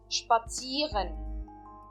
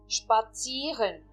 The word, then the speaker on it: spazieren: Spazieren. Spazieren. Que seria em português traduzido passear. E novamente, eu não estou pronunciando o E, apenas o I. Spazieren.